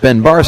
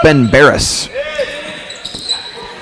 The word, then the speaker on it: Ben Barris: It's not Ben Barris, it's Ben Barris.